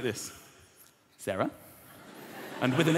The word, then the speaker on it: Sarah: Like Sarah with an H or Sarah without an H. Sarah without an H is pronounced like this. Sarah.